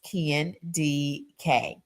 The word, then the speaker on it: Kendi K: Kendi K, pronounced Ken D K.